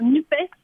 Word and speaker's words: NUPES: Finalement, j'ai décidé de dire NUPES pour qu'on entende le E de écologie et le S de social. C'est vrai que social, il a un peu disparu, parce que le S, voilà, on ne prononce pas.